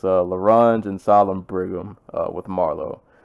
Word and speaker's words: L'Orange: started this review to make sure I was pronouncing his name right, and I was definitely not saying Larange. I was definitely saying LaOrange or some other variation of that, but it's Larange and Solemn Brigham with Marlowe.